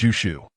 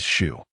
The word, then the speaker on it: Zhu: The girl looked up and replied, "Not piggy, it's Zhu." The pronunciation is shu.